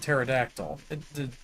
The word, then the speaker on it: pterodactyl: It's like why is why is the P silent and pterodactyl?